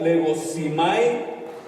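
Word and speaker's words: λογίζομαι: ¿Sabe lo que significa la palabra contado del griego que se pronuncia legosimai?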